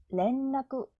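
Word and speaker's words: 連絡: 안내는 아 은나이 안나이 안나이 연락은 레은 나쿠 렌라쿠 한국은 카코쿠 카코쿠 카코쿠 사과는 리 응고 링고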